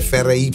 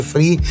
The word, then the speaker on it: Fry: Poi Francesco Fraimone, ti lo chiamo Fry perché FRY, per me si legge Fry, ma lui dice Free.